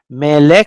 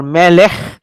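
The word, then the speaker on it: מלך: So do the whether you pronounce melek or melech will not change the meaning at all.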